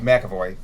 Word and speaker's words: McAvoy: Well, Patrick, so help me with his last name because I cannot pronounce it. McAvoy. McAvoy.